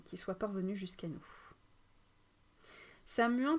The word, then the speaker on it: Samhain: soit parvenu jusqu'à nous samuin peut être écrit de plusieurs manières mais toutes sont prononcées samuin Samin et le mot irlandais pour le mois de novembre et samwiin et le mot gaéque écossais désignant la tousin la période de samonos